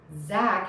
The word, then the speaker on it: Zack: a very similar way zack has a z don't touch the teeth with your tongue jack has a j touch your teeth to start that sound zap jack zack jack